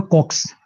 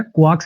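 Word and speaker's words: coax: इसकी जो प्रोनाउंसिएशन है वो कॉक्स, इसकी प्रोनाउंसिएशन है क्वाक्स वगैरह नहीं, इसकी प्रोनाउंसिएशन है कॉक्स, इसकी प्रोनाउंसिएशन है कॉक्स, इसकी प्रोनाउंसिएशन है कॉक्स, इसकी प्रोनाउंसिएशन है जी कॉक्स।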